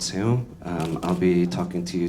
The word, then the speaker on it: SEUM: My firm is called SEUM. That's the correct pronunciation, but you don't have to say it like that. You can call it SEUM or whatever you want to call it.